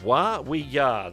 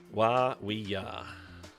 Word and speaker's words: Wa We Ya: Yeah, if you take the syllables in 2 letters at a time and just don't overthink it, that makes sense. Wa We Ya.